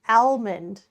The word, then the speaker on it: almond: Like Al, like Alfie. Al in Alfie. Almond. Al. No, Al. If it was all, there would be two L's. There's only one L. Almond.